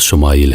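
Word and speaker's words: ישמעאל: خوشخبری سنا دی گئی۔ عبرانی زبان میں اسماعیل کا تلفظ شمائل ہے۔ شما کے معنی ہے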